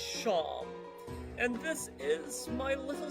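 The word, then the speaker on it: Seam: The name's Seem, pronounced Sham.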